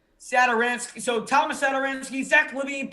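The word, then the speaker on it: Satoranský: Do you know how to pronounce that last name? Sadaransky. Sadaransky.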